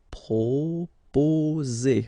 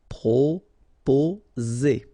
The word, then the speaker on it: proposer: Proposer. Okay, so proposer. Remember, 2 vowels here and only 1 S, so you will get the sound Z. Okay, proposer.